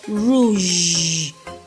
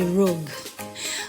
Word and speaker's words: rouge: Alright, the pronunciation or the right pronunciation of this word is rouge. Rouge. So don't say rouge. Okay? And they don't say rogue.